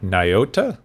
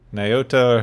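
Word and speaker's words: Nyota: has a first name apparently hooray i can't pronounce it niota maybe myota nayota hera huh yeah lieutenant commander lieutenant commander you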